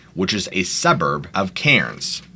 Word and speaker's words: Cairns: is a suburb of Cairns or as the locals say cans she wanted to exercise